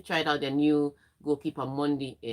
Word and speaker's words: Mendy: And Chelsea tried out their new goalkeeper Monday. I know it's spelled Mendy, but because he's French, it says Monday.